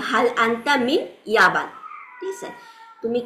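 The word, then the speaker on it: اليابان: বা Japan Japan প আরবিতে নাই, সো ওরা জাপান বলে না, জিনিসটা বলে ইয়াবান হচ্ছে জাপান।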